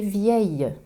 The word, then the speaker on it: vieille: Je prononce ville ou tranquillité, mais meilleure et vieille. Je prononce la phonétique le ou la phonétique ye.